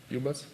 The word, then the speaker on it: ubus: It's the right pronunciation. UBus?